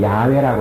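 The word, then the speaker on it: 야훼: 하나님 이름 엘로힘 여기 나오는 하나님은 여호와이 여호와라는 발음은 옛날에는 그런 요즘은 야외라고 이렇게 표현합니다 야외 왜 이렇게 발음이 다 달라졌냐고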